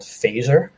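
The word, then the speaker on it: Fazer: I am the Chief Strategy Officer at a branding agency in New York called Phaser. F-A-Z-E-R is how you spell it.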